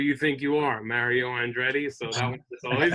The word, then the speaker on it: Andretti: And then my third one has to be Mario Andretti, and it's Mario Andretti because, from me being a very young age,